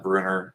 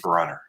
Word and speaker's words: Brunner: And Tim Finn says his last name rhymes with Runner, so not Bruner, but Brunner. Okay.